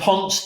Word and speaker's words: Ponce: Pronounced Ponce.